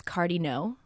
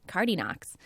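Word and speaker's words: Cardinaux: family name which is Cardo which is French c a r d i n a u x but the American kids would often pronounce the silent X at the end cardox and we just thought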